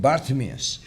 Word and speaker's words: Bartimaeus: Mia's so please take note of that named Bartimaeus now Bart amis was known to mark mark